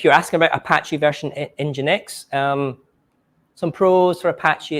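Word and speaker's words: nginx: and PHP or lamp which is engine X I know what because you can't pronounce so they use an e um but basically these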